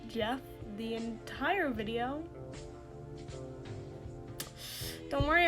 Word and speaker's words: Geoff Emerick: Hi, editor me here, just to say that I pronounced the name Geoff Emerick as Geoff and not Jeff the entire video.